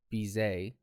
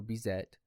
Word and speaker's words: Bizet: parody of carmen by george bizet or bizet depending on how you want to pronounce it honestly cartoons showed us